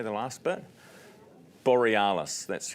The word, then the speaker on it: Borealis: Borealis.